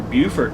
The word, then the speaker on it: Beaufort: it south carolina right off of 95 near beaufort south carolina i know i pronounced that one right it's raining as it